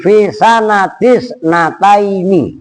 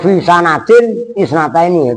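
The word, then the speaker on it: في سنة اثنتين: Fisan, bacanya begitu. Fisanatis nataini. Nah, itu mudhof. Bukan fisanata atau fisanatin isnataini.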